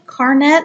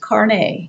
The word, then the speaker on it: carnet: looks a little silly car net CRN ET actually pronounced karne ka RNA why what